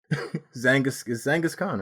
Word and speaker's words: Zhanghiskhan: Just think Zhang and Genghis Khan. Put the two together, and there you go.